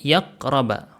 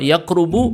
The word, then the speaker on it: yaqraba: Jadi cara baca sini yaqraba. Hati-hati, kalau yaqrubu beda maknanya. Kalau yaqrubu dekat, tidak punya objek. Kalau di sini yaqraba punya objek.